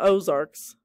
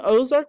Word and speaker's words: Ozark: of the Ozark landscape the name Ozark probably comes from the French word o arcs which is pronounced the same way however no one knows